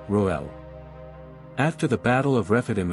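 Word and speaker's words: Reuel: true name of Jethro also known as Ruel or rajual originates from the Semitic languages and means friend of God or Divine friend pronounced as roel after the battle of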